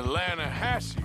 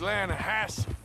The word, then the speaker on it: Lannahechee: trout you mean the lanahashi river no no no no no the the lana hatchy it runs right near here yeah but it's pronounced land hass why is everything in